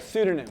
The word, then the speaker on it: pseudonym: If my entire life, if I'd only seen pseudonym spelled with an S, at no point in time would I go, this is supposed to have a P in it.